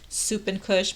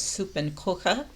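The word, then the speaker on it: Suppenküche: how to pronounce it i thought it was like soup and kush but now it's uh pronounced i guess soup and coca coche like something cooking or kitchen and they're big on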